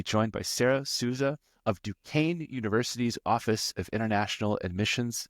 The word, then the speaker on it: Duquesne: But can I ask you, it's spelled, and for the listeners, I'm not making this up, Duquesne, and you get Duquesne out of that. That's correct. And that is of French origin.